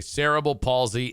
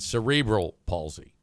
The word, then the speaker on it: cerebral palsy: I've heard that called both ways, by the way. cereble palsy and cerebral palsy. It's spelled cerebral, but people still say cable.